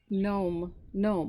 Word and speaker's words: gnome: You really pronounce gnome without the G.